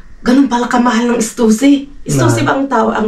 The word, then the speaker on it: Stussy: Stussy ba ang tao, ang bigkas?